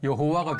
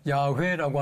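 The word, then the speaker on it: 야훼: 그러니까 아도나이라고 하는 거기서 잠을 떼가지고 모음을 떼 가지고 야외에다가 붙여 놓으니까 여호와가 됐는데 최근에 와서는 야회라고 하는 것이 정확한 발음이다 이렇게 알려져 있죠.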